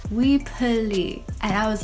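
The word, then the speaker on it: Weply: I recently found out that we apply isn't pronounced we apply it's actually pronounced we pulley and I was like that doesn't sound right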